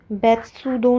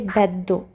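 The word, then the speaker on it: ベッド: तो ये शब्द बेत्सुदो नहीं है, इसको पढ़ेंगे बेद्दो।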